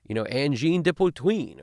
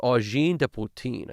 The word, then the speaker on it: Angine de Poutine: I think it's like Angine de Poutine. I think that's how you're supposed to say it.